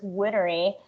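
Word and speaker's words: Whinery: like forever um i i still to this day call him winery but it's winnery how do you spell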